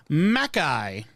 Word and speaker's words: McKay: one small critique on the surname McKay that you pronounced as it appears but it actually pronounced Makai small easily made mistake